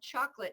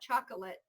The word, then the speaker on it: chocolate: And this is another one of those dropped syllables. Perfectly acceptable. So I love chocolate, not chocolate.